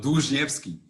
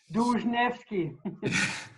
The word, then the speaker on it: Dłużniewski: me with the last name of yours, the pronunciation. Yeah, it's a tongue-breaking name. It's called Dłużniewski. Dłużniewski.